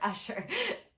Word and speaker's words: Usher: with usher with pressure usher usher rhymes with pressure um so we really